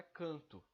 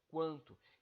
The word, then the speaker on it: quanto: é o som quanto percebam que esse que o aqui ele não é o som do clã não é canto é quanto então esse ué pronunciado sim porém esse uh uh